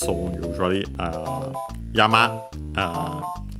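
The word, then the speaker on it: 山: Uh then we have yama on its own yama accent on the last syllable we have uh uh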